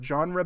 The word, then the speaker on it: genre: John Carpenter is at his best when he's genre bending and using several genres to like tell a story.